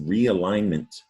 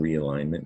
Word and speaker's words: realignment: english or at least the origin is old french where the g is silent means to set